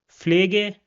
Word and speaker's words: Pflege: After that, we have the combination P and F, and this is pronounced like F in English.